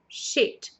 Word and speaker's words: shit: e shit shit shit então se você reparar bem sheet a primeira palavra tem uma prolongação na pronúncia do I Então she já a outra não shit é claro que numa